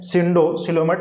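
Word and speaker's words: pseudocoelomate: उसको बोलते हैं ठीक है सिंडो ठीक है सिलोमेट क्या बोलते हैं सिंडोसिलोमेट लेकिन पी यहां पे साइलेंट होता है ध्यान रखिएगा सिंडोसिलोमेट सिंडो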